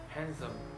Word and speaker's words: handsome: D can be selling too for example Wednesday handsome sandwich I'm not pronouncing they in sandwich but I'm just financing